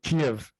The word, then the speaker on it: Kiev: your favorite recipe and and what's the proper pronunciation of kiev i'm sure i'm butchering it but can you